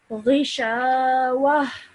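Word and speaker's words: غشاوة: Khishavatun. Well done, okay? But remember to do the tanween at the end, the nasal sound, gunna sound at the end, okay?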